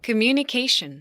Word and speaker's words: communication: 영어엔 강세가 있다는 거예요. 어디 있습니까? 들어볼게요. Communication. 한 번 더. Communication. 자, 강세가 몇 개인지를 찾아보세요.